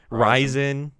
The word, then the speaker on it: Ryzen: Is that how you pronounce it? Right? Ryzen.